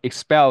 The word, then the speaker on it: expel: expel 같은 경우에는 여기 s 그리고 p 발음이 되면서 이 p 발음의 음가가 약간 된 소리가 됩니다. 그래서 expel보다는 expel, expel의 느낌으로 발음이 되는 거죠.